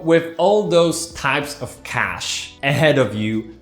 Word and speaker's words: cache: do see it may end well that's your pronounce it's cash okay take it easy and let's take a